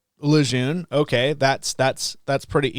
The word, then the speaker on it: Lejeune: So I watch a lot of IMCA TV and and some other stuff and and I and I saw your name and it's Lun.